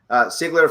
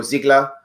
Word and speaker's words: Sigler: to his Facebook page, Sigler for Senate. That's with an S. Sometimes I pronounce it like a Z because my mom was German, so I go Ziegler because I just sorry.